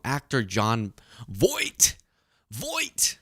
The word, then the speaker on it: Voight: Voight. I used to say Vought. It's Voight.